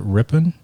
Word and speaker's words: Ripon: Did I pronounce that right? Is it Ripon? Ripon, yeah. Ripon, California. Ripon. Ripon. It's the town's so small. You rip right through it. You blink and you missed it.